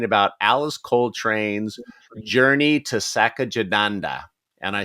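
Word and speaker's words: Satchidananda: Next week, we are going to be talking about Alice Coltrane's Journey to Sachadananda. And I say that different every time I say it. Sachadananda is how I believe it is pronounced.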